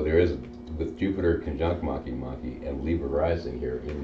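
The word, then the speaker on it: Makemake: And Maki Maki kind of rhymes with Anunnaki.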